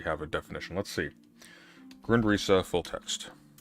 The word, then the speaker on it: Grundrisse: Grundrisse full text. That's how you pronounce it, right? Grundrisse? I think so. I've heard of Grundrisse. It's not Grundriss, is it?